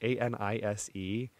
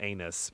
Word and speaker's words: anise: Anise. All I know is it's not anus.